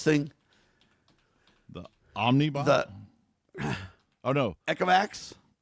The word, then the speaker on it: Ecovacs: Ecovacs, I think is how you say it.